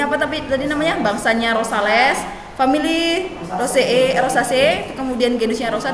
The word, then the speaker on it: Rosales: Ini bacanya bukan rosa C. Rosa C. Wih, rosales.